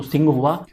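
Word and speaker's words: Tsinghua: तो ये टी यहाँ पे साइलेंट है, तो सिंगहुआ।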